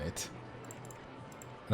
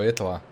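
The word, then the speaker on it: Hietala: that will be like Marco who marcoa that's kind of how you pronounce it in Finnish I mean in in English I would kind of say Marco itala well that's more Dutch it's h i e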